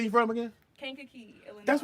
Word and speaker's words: Kankakee: They make y'all pronounce that? It's Kankakee.